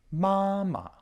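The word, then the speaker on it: 妈妈: characters like ma and when saying the full name the tone on the second character is dropped mama and the same goes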